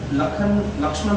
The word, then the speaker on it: लक्ष्मण: I came to know लक्ष्मण बोलते हैं, Lakhan pronounce करते हैं, लक्ष्मण बेहरा, फैमिली पर्सन, परिवार सब कुछ उसका।